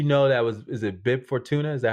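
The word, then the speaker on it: Bib Fortuna: uh did you know that was is it bib for tuna is that how you pronounce his name yes from the hut yeah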